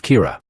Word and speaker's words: Kira: person behind this and calls him Kira, which is the Japanese pronunciation of the word killer.